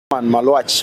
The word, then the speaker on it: Maluach: All right, here's the official pronunciation. Here is the official pronunciation. Malwatch. Malwatch is my last name.